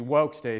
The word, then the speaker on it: Vox Day: goes by the name Vox day. It's literally supposed to be wok day if you know how to pronounce Latin wok's de which means the voice of god and anybody who says